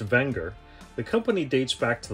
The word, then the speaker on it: Wenger: click the link below to skip ahead technically pronounced wenger the company dates back to the late 1800s